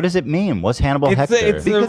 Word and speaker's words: Hector: how do you pronounce Hector May askor the way I said H is silent good Hector Legend